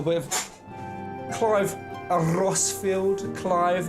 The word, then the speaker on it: Clive: of clive a rosfield clive not pronounced cleave some summon action yeah